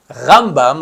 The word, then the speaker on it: Rambam: Si on dit Rambam, avec l'accent tonique sur la première syllabe, c'est Maimonide. Ramban, sur la deuxième syllabe, c'est Nachmanide.